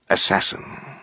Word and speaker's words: assassin: the craft of killing the word had evolved it was now pronounced assassin chapter 664 you